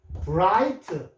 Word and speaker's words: bright: 자, 그다음에고 I에다가 브라이트 영리한 뜻인데요. GH는 소리가 안 났어요.